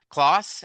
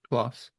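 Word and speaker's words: Klaes: Clauss. Ashford. How do you say his first name? Clauss. Class. Claus. Okay. Oh, okay. Like German.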